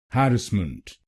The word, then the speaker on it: harassment: harassment harassment British Pronunciation In British English we put stress on the first syllable but in American pronunciation we will put stress on the second syllable so we will say harassment harassment.